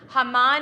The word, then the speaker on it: Haman: When I chant the Haftarah today, in preparation for Purim, when I get to Haman, Haman is how you say Haman in Hebrew.